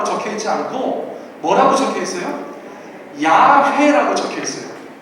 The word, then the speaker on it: 야훼: 영어식으로 저희가 익숙합니다만 예수 하나님의 이름을 비교적 정확하게 알고 싶은 분들께서는 야훼라고 기억하시는 게 더 좋아요.